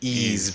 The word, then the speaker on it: Ys: Number 100 is Ease Book One and two. I heard it's very good, but I haven't played it. Yeah. Same here. Is it pronounced ease? Not wise.